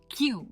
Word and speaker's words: cue: दोनों की प्रोनाउंसिएशन है क्यू, जैसे हिंदी में हम पूछते हैं ना क्यू, वही इसकी प्रोनाउंसिएशन है।